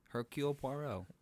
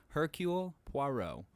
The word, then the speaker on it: Hercule Poirot: Hercule Poirot.